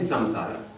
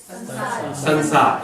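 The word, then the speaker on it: संसार: Say samsara. In Hindi, what do people generally say? Sansar. It becomes a na, right?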